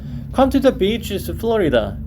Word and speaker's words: Florida: Come to the beaches of Florida. 이거 발음 조심하셔야 돼요. 짧게 발음하면 안 돼요.